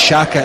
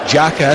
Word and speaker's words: Xhaka: I mean, it's a commentator's nightmare these days, but as many think it's Xhaka, it's actually Granit Xhaka, isn't it?